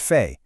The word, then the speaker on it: fait: Faire turns into fait, pronounced fait.